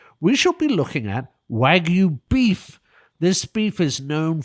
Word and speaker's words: Wagyu: That's w a g yu and is pronounced wagu not wagu.